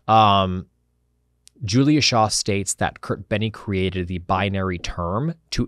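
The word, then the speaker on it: Kertbeny: by somebody named Carl Maria Kurt Benny I think is how you pronounce his last name now to keep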